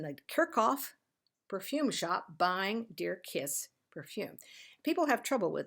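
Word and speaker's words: Djer-Kiss: and over again and each and every one of their ads says it's pronounced d-e-a-r Dash k-i-s-s This one is John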